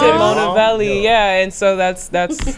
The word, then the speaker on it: MonaVeli: keep the MON in there, but pronounce it, pronounce it MonaVeli, and so that's how it came to be."